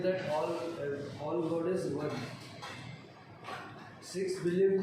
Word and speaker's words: Sikh: The word Sikh, pronounced as Sikh, it means discipline or a learner.